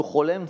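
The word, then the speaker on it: חולם: Pour la prononciation, le cholem, c'est un O.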